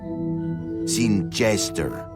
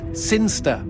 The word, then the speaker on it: Sinister: Sinister. Sinster. What? It's pronounced Sinster.